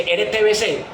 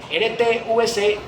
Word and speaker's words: RTVC: pronuncia mal, o sea, todo el mundo dices que RTBC, o sea, confundiendo la B con la V. RTVC, o sea, ellos hablan